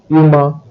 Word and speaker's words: humain: In the case of the last four adjectives, haut, heureux, humain, and humide, you will note that H is silent, but although silent, it still exists.